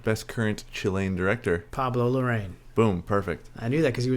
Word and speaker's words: Larraín: What's funny is, in English we say Pablo Larraín, but in Spanish it's actually Pablo Larraín.